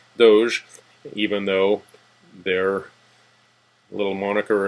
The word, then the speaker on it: Doge: And he did say that it is pronounced Doge, even though their little moniker is a doggy.